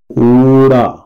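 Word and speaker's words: ਊੜਾ: पंजाबी में ये ऊड़ा कहा जाता है और हिंदी में इसका जो उच्चारण है वो ऊ का होता है।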